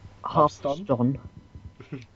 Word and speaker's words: Hearthstone: Hearth. As in like a fireplace hearth. Hearth? Hearthstone. Hearthstone? Hearthstone.